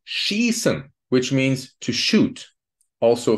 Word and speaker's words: schießen: So please remember, IE is a long E, like in the word schießen, which means to shoot, also, for example, in football.